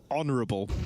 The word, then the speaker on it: honorable: Honorable. That's the H is silent.